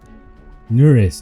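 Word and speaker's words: Neuras: Nuris, okay, that's how you pronounce the name.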